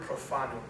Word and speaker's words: profanum: uses the Latin word profanum um for outside the temple and profanum sounds like the word profane right that's the root of